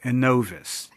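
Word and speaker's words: Innovis: But once again, there is a fourth credit reporting agency called Anovvice, and it is spelled I N O V I S.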